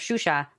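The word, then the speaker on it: Xuxa: in Miami of course shusha like this she was a Brazilian like kids Entertainer like it's spelled X you anyway completely aside the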